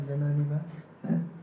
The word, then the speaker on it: Jananivasa: Jana Nivash. We always pronounce it Jananivas. But there's a hyphen in between the Jana and the Nivash.